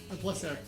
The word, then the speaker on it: Placer: All the different How do you pronounce it? Placer. Placer. Yeah. Placer. It sounds French. You know, it's Spanish, but yeah.